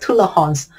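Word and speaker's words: Tolérance: is TI tulah Hons in French it's called tulah Hons or in English the tolerance control is from the tolerance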